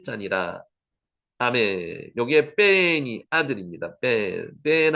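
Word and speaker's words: בן: 뺀 한번 해보세요. 뺀으로 발음이 됩니다. 격한 발음이죠.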